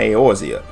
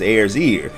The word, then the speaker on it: Eorzea: so he decided to come to eorzea a place he mispronounces as ayers ear which now that i say it out loud isn't really that far off he went straight to